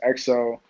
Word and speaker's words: XYO: you oh yeah so my artist name is xyo it's pronounced exo um what it means